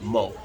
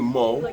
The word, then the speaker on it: Mu: it spelled mu but she actually pronounced it moe i think moe okay who is a